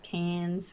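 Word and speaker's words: Cairns: They have good old Canes, which is not spelled that way, but that's how we pronounce it.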